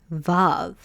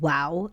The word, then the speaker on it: ו: So, in ancient Hebrew, uh, vav probably was called wow instead.